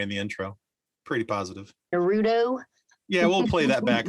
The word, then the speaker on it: Naruto: wrong spot like like it's Naruto but lots of people say Naruto but it's not Naruto it's Naruto because this emphasis is on the first syllable instead of the middle one which is what we're